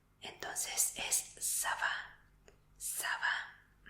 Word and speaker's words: ça va: Y se dice ça va. Ça va. Y se escribe así. Ça va. Sí, esta C es una C especial que se pronuncia como S.